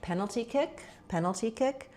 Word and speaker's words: penalty kick: When we're talking about penalty kick, we have the main stress is on penalty, then kick gets some secondary stress. This is a compound noun. So in compound nouns, we always stress the first of the two nouns, same as in grocery store, sports car, etc. So within the word penalty, we stress on the pen syllable.